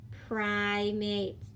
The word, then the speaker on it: primates: guys primate good job do the open syllable I pry a mate together primates next one this is